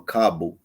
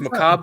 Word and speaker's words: Makabu: I give this round to Makabu. Yeah, high work rate. Makabu was piecing him up and he was busier. Is it pronounced Makabu or Makabu? It's really Makabu, not Makabu. It's Makabu.